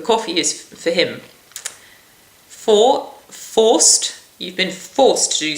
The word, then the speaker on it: vorst: If you're not careful, you'll sing sausage, which is vorst. So make sure you really do a and it's for forced, because otherwise you're singing for sausages, for freedom and for the law, which whilst it's very worthy is not quite the message you wish to convey.